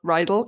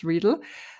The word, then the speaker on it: Riedl: Many people pronounce it wrongly because it's a German word. So it's not Riedl, it's Riedl.